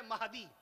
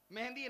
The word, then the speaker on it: مہدی: گے، میں مہدی ہوں، صحیح لفظ ہے مہدی، مہندی نہیں، مہدی صحیح لفظ۔ ابو داؤد شریف کی حدیث جسے صحیح تلفظ کیا ہے؟